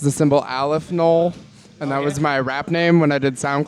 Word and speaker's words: Knowles: Back again, Stephen Michael James with the one, the only, Alli Knowles. Thank you for having me. Did I pronounce it correctly? Yeah, Knowles. Alli Knowles. Yep, like Beyonce.